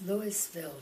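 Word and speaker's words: Louisville: lewisville they call it they pronounce the s lewisville georgia that was the third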